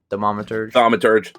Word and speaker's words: Thaumaturge: and I don't know a lot about the Thaumaturge. Is that how you say it? Thaumaturge.